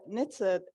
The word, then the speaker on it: NHTSA: The NHTSA, that's how we pronounce it there, is working on various endeavors.